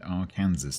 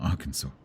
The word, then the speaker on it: Arkansas: There is a town in Kansas named Arkansas, but you have to pronounce it R Kansas, not Arkansas.